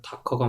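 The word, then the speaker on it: Docker: 근데 도커가 맞아요? 다커가 맞아요? 미국 애들은 약간 다커 이런 식으로 네.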